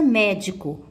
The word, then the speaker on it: médico: Então, observe a palavra médico. Pronuncie. Ao pronunciar a palavra médico, vocês vão observar que o mé é a sílaba tônica.